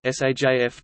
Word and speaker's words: سيف: In a non-emphatic environment, the vowel, a, in the diphthong, aj, tends to be fronted even more than elsewhere, often pronounced aa or j, hence saif saif saif tilde saif tilde saif sword, but saif saif sjaif summer.